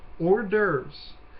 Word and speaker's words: hors d'oeuvres: Now, this next one is hard to look at, but it's actually pretty easy to pronounce. Hors d'oeuvres.